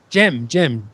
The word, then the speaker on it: Gem: it didn't uh Jim e how do you pronounce it Jim Jim okay Jim yeah but I said it